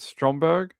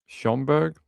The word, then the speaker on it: Schaumburg: The town is called Stromberg, Illinois. Skomberg, Illinois. In my thick Spanish accent, I'll put it in the chat. Maybe people local will know where it is. Schomburg?